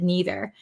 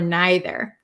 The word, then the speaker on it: neither: I'm from America, so I say either and neither. But people from England, British people, or some people in America too say either or neither. So that depends on where you're from, what pronunciation you'd like to use. So both are correct.